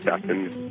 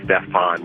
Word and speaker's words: Stephan: My name is Stephan and I'm coincidentally African-Amean. So people automatically assume that my name is Stefan when they're reading it even though it's spelled s p e p h een.